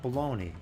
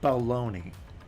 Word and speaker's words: baloney: That's not baloney. You have to pronounce that baloney in a very exaggerated way.